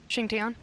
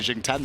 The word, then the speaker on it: Xing Tian: Xing Tian. Tian, is that how it's said? I believe so. That's correct pronunciation. It's, I don't know, because I've been saying Jing 10 the whole time.